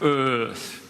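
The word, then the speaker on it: Eaarth: e a r t you have to kind of Channel your inner Schwarzenegger to pronounce it correctly sort of Earth um and um the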